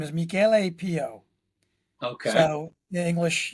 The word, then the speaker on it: Michele: So his name is his actual name is Michele Pio. Okay. So in English, Michael. Michele is Michael, spelled like Michelle, but it's Michele Pio.